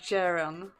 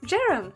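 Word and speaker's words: Ceren: I think it's pronounced Jaren. So, yeah. Wait, I'm just trying to read it. Yeah, exactly. I'm right, I think. Jaren, spelled like C-E-R-E-N. That's J like jester and ran like ransom.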